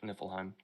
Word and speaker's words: Niflheim: We have Nephel, if I pronounce that fucking right. Which is the land of mist, basically. That's the closest thing. That's Niflheim, right? Yeah, Niflheim.